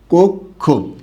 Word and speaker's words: কক্ষ: এটার উচ্চারণটা কি হবে? কোক, খকার খো, কক্ষ।